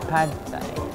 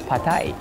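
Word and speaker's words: pad thai: Yan yung dating iniisip natin pad thie. Apparently it's pronounced as patay.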